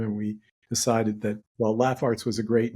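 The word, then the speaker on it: Laff Arts: as laugh Arts because people often mispronounce it as larts because we spelled it L A FF a r TS so oh dear changed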